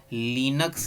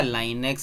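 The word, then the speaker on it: Linux: अगला operating system है हमारा लिनक्स या लाइनेक्स। इसको भाई कोई कोई लिनक्स प्रोनाउंस करता है, कोई लाइनेक्स प्रोनाउंस करता है, खैर आपकी मर्जी जो कर लीजिएगा।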